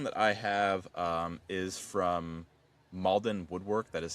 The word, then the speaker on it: Mauldin: The next one that I have is from Malden Woodwork. That is spelled Mauldin Woodwork.